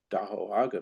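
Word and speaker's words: Dá'aw: So I keep coming back to uh DAO and we wanted to uh let everybody know that the correct word is is do a means the lake shore of Lake Tahoe.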